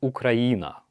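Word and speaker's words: Україна: that in Ukrainian UK in Ukrainian Ukraine is ukraina Hastings or Russia Cardiff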